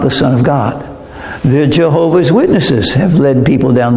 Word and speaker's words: Jehovah: They only wrote the consonants. They didn't write the vowels.